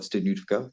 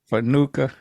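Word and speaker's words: studniówka: We call it Studniutka, but we had our prom yesterday. Hold on. You said you got to pronounce that again. Oh, Studniutka? Fanuka. No, not Fanuka. No, Studniutka. Stunufka. There you go.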